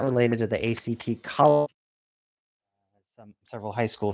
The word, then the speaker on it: ACT: not related to the ACT college some several high school students need to take, but long here we go. Acceptance commitment therapy act typically pronounced as the word act is a form of